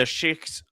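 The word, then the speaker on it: sheikh: So the the shik of uh like or she is actually how how you're supposed to pronounce that um of Hebrron have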